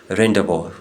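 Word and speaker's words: rendezvous: ये जो वर्ड है रेंबो रेंबो इसमें जड और एस जो है ये दोनों साइलेंट होते हैं बाज लोग इसमें सिर्फ एस साइलेंट रखते हैं लेकिन इसमें दोनों जड और एस जो है ये साइलेंट लेटर्स है गेस्ट में यू साइलेंट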